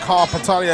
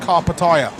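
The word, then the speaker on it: Karpatalya: also been told that Carl patalia is now pronounced car Pattaya carbataya okay apparently Liverpool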